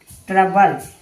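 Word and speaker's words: trouble: टी आर ओ यू बी एल इ ट्रबल यानी ओ के बाद यू है यानी ट्रबल इसे पढ़ेंगे। ओ साइलेंट ट्रबल नहीं इसे ट्रबल पढ़ेंगे। यहां ओ साइलेंट है।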